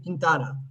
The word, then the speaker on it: Quintana: First name, last name Quintana. Quintana. Okay. Can you introduce yourself to our listeners and viewers at home? Hi. I'm Quintana.